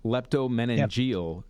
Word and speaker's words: leptomeningeal: Can leptomeningeal metastasis be cured without radiation or chemotherapy?